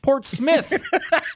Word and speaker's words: Portsmouth: are some facts about Portsmouth New Hampshire which was the most recent addition to the board fact number one Portsmouth is pronounced Port Smith not mouth I don't think they